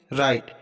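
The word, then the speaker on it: write: राइट, अब देखो यहाँ पर डब्लू के तुरंत बाद आर आया है, तो डब्लू का उच्चारण नहीं होगा, यानी कि डब्लू हमारा साइलेंट रहेगा।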